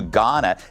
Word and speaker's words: Ghana: LA Mayor Karen Bass is demanding an investigation into her trip to Ghana. The H is silent.